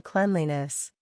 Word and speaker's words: cleanliness: to become the noun cleanliness the pronunciation also changes clean sounds like Clan after we add the suffix visit the blog post